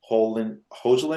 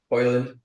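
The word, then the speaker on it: Højlund: Hojlund, how do you say his name? Hoyland.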